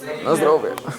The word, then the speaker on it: na zdrowie: Nastrovia. Wait. Nastrovia. Nastrovia. Na zdrowie.